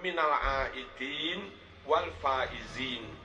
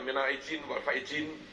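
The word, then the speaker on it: Minal 'Aidin wal Faizin: apa ya apa harusnya yang pertama itu Dal Minal aidin Yang kedua pakai Zai wal faizin aidin orang-orang yang kembali kepada Fitrah aid itu Dal Idul Fitri itu Dal kalau orang kembali kepada Fitrah aidin pakai Dal juga juga lalu fauz fauzun itu beruntung menang orang yang menang faizin juga pakai Zai Nah harusnya bacanya Minal aidin wal faizin Minal aidin wal faizin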